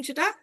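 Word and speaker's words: Zett: হবে, যখন আমরা সেন্টেন্সে এটাকে অ্যাপ্লাই করব তখন সেটা ফর মতো উচ্চারণ হবে। ভি, ফাও। এই যে ডাব্লু, ডাব্লু কে বলা হয় ভে। যেমন ভাস, এটা আমরা ইংলিশে কি বলি ওয়াস। ওয়াস, সেটাকে কিন্তু বলা হয় ভাস।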